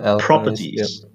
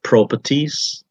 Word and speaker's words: properties: and then we got properties i heard pro pro properties or something uh pro problem pro properties something like that it's properties so it's uh yeah try to stress the first syllable prop properties okay uh